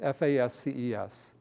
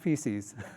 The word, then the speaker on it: fasces: It's F-A-S-C-E-S. Do you know how to pronounce that? Not feces, fasces.